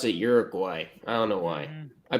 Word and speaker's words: Uruguay: And the Group H is Portugal, Ghana, Uruguay, and the Korean Republic. It's pronounced Uruguay. God damn it. Some people pronounce it Uruguay.